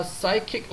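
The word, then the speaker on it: psychic: the benefit 여기서 이점은 is on the pychic level 정신적인 피묵 발음 안 되고요.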